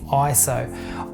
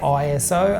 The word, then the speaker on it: ISO: Well, you may have noticed throughout the whole video I've been saying ISO. I used to say ISO until I found out that it is not actually an acronym.